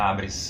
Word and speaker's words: ABRES: ABRES que Associação Brasileira de Estágios, essa é a pronúncia, ABRES.